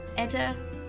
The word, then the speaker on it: eta: in Greek alphabetical order ETA is a long e as in Tabby and Epsilon is short